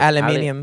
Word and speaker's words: aluminium: And he'd be like, aluminium.